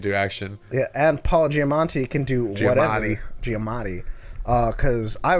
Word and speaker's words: Giamatti: Giamatti. Giamatti. There's no N.